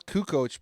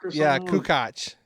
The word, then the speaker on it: Kukoc: yeah well at least I can pronounce Kukoc properly unlike everybody in that documentary would it Barkley call Kukoc yakoo Koch who Koch terrible so speaking of